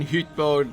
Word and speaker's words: Hytbold: I am pronouncing the Y in Hytbold like a German. That is how it is pronounced in Anglo-Saxon, and as the, of course the Rohirric names are based on Anglo-Saxon, I tried to pronounce them in an Anglo-Saxonian way.